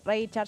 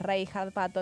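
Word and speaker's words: Reichardt: Yo lo pronuncio Richard. Ya sé que es Rey Hardo, eso lo he aprendido de voz, pero bueno.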